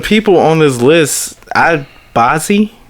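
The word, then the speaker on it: Bazzi: on this list I bossy that's how you pronounce it ba zzi yeah and little baby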